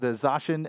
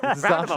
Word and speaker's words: Zacian: Yeah, I got to give it over here to Etchy with the Zacian and Zamazenta, right? Did I say it right? Yes, you did. I did. I said it right. Zacian and Zamazenta, Pokemon-themed Switch here.